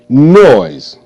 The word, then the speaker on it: noise: foil aluminum aluminum foil noise n o noise noise noise e is silent and you see the s s make the z sound z z okay over